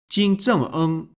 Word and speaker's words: 金正恩: North Korean Supreme Leader, that's his official title, Kim Jong-un is written and pronounced as Jin Zheng-eng.